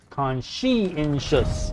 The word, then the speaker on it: conscientious: Conscientious. Okay. So I actually was saying it wrong because I was saying conchi. Like energy of chi.